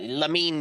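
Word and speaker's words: Lamine: um Lenny Lemens what the how do you pronounce it? Um Yamal Yamal. Yeah, Lamin Yamal.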